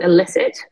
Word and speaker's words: Elicit: for a company called Illicit, spelled with an E, like to elicit something, not to be illicit, which is confusing name.